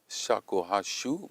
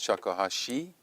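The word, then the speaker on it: shakuhachi: I said shakuhashu, but this is Shakohashi and I wrote it wrongly.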